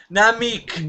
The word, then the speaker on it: Namek: They can't even pronounce the word Namek. That one confused the hell out of me. It's an A, not an E. But Namek.